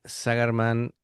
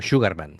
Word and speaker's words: Sugarman: Eh, bueno, recordamos, ¿no?, la formación está el amigo Spencer Chernas a la voz Dan Sagarman, o Sugarman sería pronunciado.